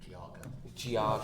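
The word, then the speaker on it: Geauga: Uh, it's Russell Township of I I can't pronounce the name of the county barrel. It's like Geiga County. Giaga. Giaga.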